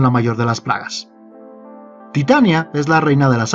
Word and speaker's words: Titania: de titanio, mientras que el nombre shakespeariano se pronuncia como lo haríamos en español, Titania.